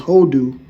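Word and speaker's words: הודו: When you look up India, all right, India, which is Hadawa, which they pronounce Hodu, which India means to flee away or give you thanks.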